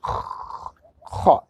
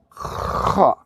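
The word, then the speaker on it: خ: this letter correctly, you have to close the beginning of your throat here, kha. And I give you examples before in our last videos. You can return our last videos if you want to pronounce this perfectly. You just imagine you have some of water and you want to play with this water in your throat, like, okay? This is the same sound, kha.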